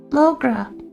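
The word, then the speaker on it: mo ghrá: Come on, Mogra? I refer my love. One dialect for pronounce it as Mogra.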